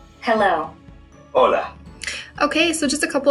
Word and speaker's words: hola: to pronounce those words did you notice that although hola starts with the letter h it is not pronounced the letter h is always silent in spanish as you go through